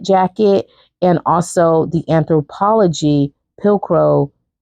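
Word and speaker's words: Pilcro: and also the anthropology pillcro pill crow I think that's how I'm pron I think that's how you pronounce it is p i l c r o pillcro denim capllet jacket so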